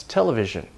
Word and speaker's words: television: right next we have television this is a Greek pattern certain scientific prefixes like tella and kilo have a main stress television that's a Greek pattern not a lot mainly words with scientific prefixes but do we say